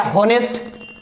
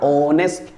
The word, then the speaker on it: honest: For example HONEST. आप पढ़ते क्या? होनेस्ट. होनेस्ट नो, होनेस्ट नहीं पढ़ना आपको. होनेस्ट नॉट, आपको पढ़ना ऑनेस्ट. क्या पता है? ओ से पहले क्या आ रहा है? एच आ रहा है तो एच हो जाएगा साइलेंट. समझ लो है ही नहीं तो पढ़ेंगे ऑनेस्ट. क्या पढ़ेंगे? ऑनेस्ट. आर you getting my points? ऑनेस्ट. ऑनेस्ट. आप इसको पढ़ेंगे ऑनेस्ट. क्या पढ़ेंगे? ऑनेस्ट, right.